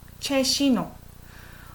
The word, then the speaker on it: 최신호: So when you pronounce S and E, it's like sh sound. Sh, not she, she. 최신호.